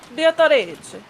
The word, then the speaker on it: Beatrice: Okay, so wait, so how do you say it in how do you say it with the Italian pronunciation? Beatrice.